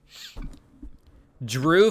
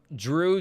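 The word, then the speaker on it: Dreux: Drew, France. Drew, D-R-E-U-X.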